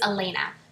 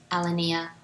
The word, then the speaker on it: Alanea: Oh, and it is Elena, not Alanea or Alanea. But if you've been saying it wrong in your head, don't feel bad.